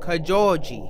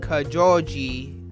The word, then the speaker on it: Kojouji: Japan when you're pronouncing Kajal G you actually say that J it's not like Spanish like jalapeno or Javier you don't say jalapeno